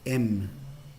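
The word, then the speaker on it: אם: Bueno, padre, para que a mí nos gusta anotar las palabras en hebreos, padre se pronuncia af, av, af, y madre se pronuncia em.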